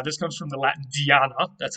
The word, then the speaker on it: Diana: Now, this comes from the Latin Diana. That's how they would have pronounced it, of course.